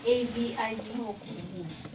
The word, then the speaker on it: Aviv: Aviv is the modern Israeli pronunciation. Oh. Abib is the biblical Hebrew pronunciation. Oh. Yeah. Okay. This character was pronounced B in the Bible, but in modern Hebrew it's pronounced V.